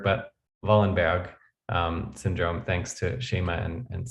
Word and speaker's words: Wallenberg: the way and now we know it's not wallenberg but vollenberg syndrome thanks to shema and sammy um i